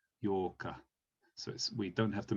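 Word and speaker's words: 八日: And then 8, this is like the double of 4, which was Yokka. So we pronounce this Yorka, Yorka.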